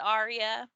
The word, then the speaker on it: Aria: Did I pronounce it right? Is it Aria? Yes, you pronounced it correctly.